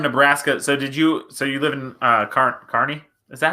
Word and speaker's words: Kearney: So being from Nebraska, so you live in Kearney? Is that how that's pronounced? Kearney? Yep, like a carnival person. Kearney.